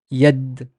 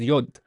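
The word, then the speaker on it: يد: We see that it's pronounced as yad. Yad. Yeah, yad. Yad is basically hand. And the word also exists in other Semitic languages. Like if you look at Hebrew, if you look at Aramaic, you'd find it pronounced as yod, as yad, hand.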